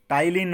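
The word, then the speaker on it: ptyalin: टाइलिन और amylase दोनों, पी होता है भाई, पी साइलेंट होता है। ये स्पेलिंग भी पूछी जा सकती है, टाइलिन पढ़ोगे आप इसे, पी साइलेंट होता है।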